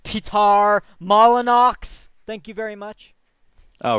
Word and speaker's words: Peter Molyneux: anyway um but anthem it's pronounced Pete are mala Knox thank you very much